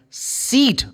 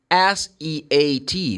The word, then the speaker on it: seat: Oh, please come over here and have a seat. Now I'm using a different sound. You see? Seat is S-E-A-T, but I said seat.